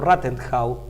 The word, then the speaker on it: Rathenau: corregir yo dije que walther rathenau rathenow creo que en alemán se pronuncia así era no era el